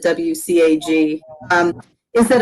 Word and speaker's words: WCAG: the neat thing about as we uh pronounce it wcag um is that it's